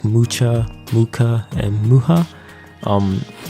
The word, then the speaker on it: Mucha: random but um in terms for alphonse mukas muha's name um i saw many pronunciations of the name like mucha luca and muha um it's very slight but there's a it's